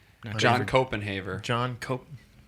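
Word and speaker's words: Koppenhaver: But hey, you guys know John Copenhaver?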